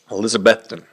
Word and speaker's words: Elizabethton: minute to figure out how to say it Elizabethton yeah if you're listening that's what you're saying